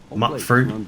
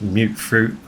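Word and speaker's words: mutfruit: been calling these plants mut fruit but it's actually pronounced as mute fruit I've been playing this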